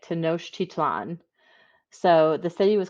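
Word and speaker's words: Tenochtitlan: the Aztec people built a city called to noctic titsline hold please all right I Googled how to say it to Noche titlan so the city was called to know chitlan and it was on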